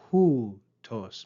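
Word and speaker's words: οὗτος: The first word we see is hoo tos. Make sure you pay attention to the breathing mark and the accent.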